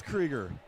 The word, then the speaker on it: Krieger: So it is Krieger. Yep. Which I thought it was, but somebody told me Kruger. I'm like, I don't think so. Because the Wisconsin pronunciation is Krieger on that.